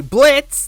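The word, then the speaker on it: Blitzø: It's your fave big dick boy BLITZ, the O is silent, coming at ya.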